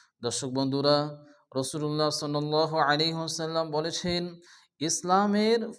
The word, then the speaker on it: রাসূলুল্লাহ: অনেকে আছে মুহাম্মাদুর রা পড়ে, রা পড়া যাবে না। আরবিতে 8টি অক্ষরের উপরে জবর আসলে অকার উচ্চারণ হয়, এর মধ্যে র একটি অক্ষর। এজন্য এখানে পড়তে হবে মুহাম্মাদুর রাসূলুল্লাহ। আল্লাহ শব্দ শুরুতে পেয়ে যাচ্ছে, এই জন্য আল্লাহর নামকে পুরো অর্থ আল্লাহ উচ্চারণ করে পড়তে হবে রাসূলুল্লাহ।